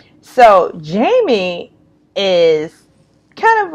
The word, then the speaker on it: Yeimy: But in Spanish, the Y is pronounced with a J, and J is pronounced or the H sound. So Yeimy is kind of a,